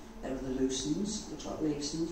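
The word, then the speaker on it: Leveson: They were the Lucens, the Leasons, pronounced Lucens back then.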